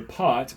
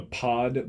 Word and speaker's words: pot: Some people have called it a pod before, but they have just mispronounced it. It's short for potentiometer, so P-O-T.